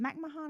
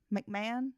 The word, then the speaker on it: McMahon: begged Vince McMahan is it McMahan or McMahan it's mcmah McMahon Vince McMahon I knew I I can never I always butcher his name because I I know it's like like the way it's spell it doesn't look like the way yeah it's spelled no but there's actually McMahon okay real big doc